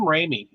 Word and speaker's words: Raimi: Powerful from 2013, which was directed by Sam Raimi, if I pronounced that name correctly. Correct, Sam Raimi, who, if anyone, if you know anything about,